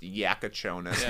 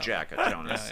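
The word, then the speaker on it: Jakučionis: I me I mentioned earlier it's supposed to be pronounced Yakonis, not Jackonis.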